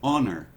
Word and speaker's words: honor: Agora, quando nos tratamos da palavra honra, por exemplo, esse H aqui não é falado como esse de cima, aqui é house, aqui é honor, ou seja, esse H não é pronunciado.